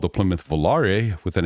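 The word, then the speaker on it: Volaré: in, called the Plymouth Volare, with an accent on quality, not. The accent aigu has a long A sound.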